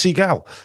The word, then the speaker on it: Segal: Uh yeah, Seagal. Is that Have I pronounced your surname right?